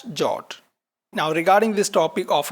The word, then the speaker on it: JWT: In this particular tutorial we are using the standard JSON web token in short pronounced as jot.